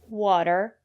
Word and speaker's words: water: say potatoes or flatten usually when the letter T is between vowels we pronounce the letter t as a fast the water better City and the reason is because the syllable after the letter T is not stressed water the first syllable is